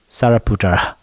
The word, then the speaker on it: Sariputra: chartres body here with the how are you pronounced sorry sariputra yeah sorry puta so they are asking and